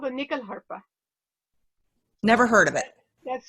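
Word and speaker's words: nyckelharpa: tell us about it sure it's called a nickel harper never heard of it that's spelled n-y-c-k-e-l-h-a-r-p-a and nichol is the swedish word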